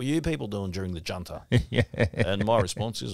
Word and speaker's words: Junta: And it's spelled with a J. It's actually Junta. Junta. I hear a lot of Australians say, oh, you know, what were you people doing during the Junta?